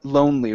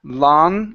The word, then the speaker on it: lonely: we have the word lonely right here instead of Lan lonely it's an o sound lonely lonely so I